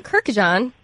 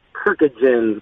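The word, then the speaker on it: Kurkjian: Yeah, there's a lot of extra I's put in between the K and the J. There's a lot of Kirkjians going, but Kirkjian is kind of a new one from an ESPN employee.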